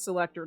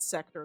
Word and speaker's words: selector: I'm saying it wrong, it's selector, not sector, there's an L in there.